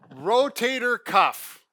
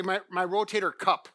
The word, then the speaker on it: rotator cuff: - Rotator cuff. Now let's get the pronunciation, - Right. - We've had patients come in and say my rotator cup, my cup, cup of coffee.